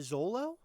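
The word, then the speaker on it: Xolo: i you pronounce it zolo well it's x-o-l-o for short i'm assuming it's pronounced like a z oh yeah they're the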